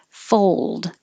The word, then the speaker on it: fold: Fold. We do say this L, but because the L is in the same position as the D, fold.